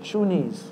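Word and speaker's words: shooneez: S-H-O-O-N-E-E-Z. That's how I would spell it. Shuniz. Shuniz. I would say shuniz, huh?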